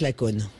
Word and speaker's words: Lacaune: on a 400 brebis laitières de race Laconne. 400. Ouais. Ça s'écrit comment, Laconne?